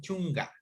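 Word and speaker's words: chunka: En algunos casos, como les decía, la K a veces suena como la G de gato, ¿no? Chunga, ¿ya?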